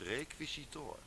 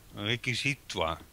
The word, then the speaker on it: requisitoire: Maar dit is toch een Frans woord, of niet? Het spreek je uit als requisitoor. Ja, requisitoire. Nee, requisitoor.